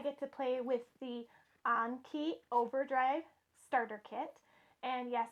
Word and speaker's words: Anki: because today I get to play with the ankey overdrive starter kit and yes it is pronounced an key I had to look it